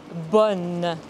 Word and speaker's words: bonne: Attention, ce n'est pas bon, mais bonne. Ce n'est pas une voyelle nasale.